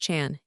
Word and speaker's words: Jean: He went to Aia where Gene is pronounced Chan and thus he was transformed into Chantu.